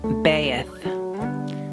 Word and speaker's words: Beth: Beth pronounced baith transcribed as B the number two meaning house.